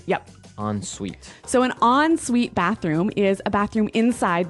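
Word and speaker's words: en suite: UI t e so even though it's e n we pronounce it like an o n yep on suet so an on Suite bathroom is a bathroom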